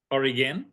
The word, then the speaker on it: Origen: oh there it is Oregon Oregan not quite like the state but similar mon for everyone in